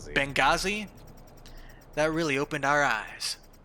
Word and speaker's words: Benghazi: Benghazi. Benghazi.